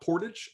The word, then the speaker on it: portage: And in Canada, it is not portage, it is portage.